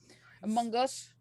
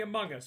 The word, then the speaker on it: Among Us: Okay, so I'm off topic here, but in the U.S., when we say Among Us, they pronounce the G in Among, so it's Among Us. Gaz said Among Us.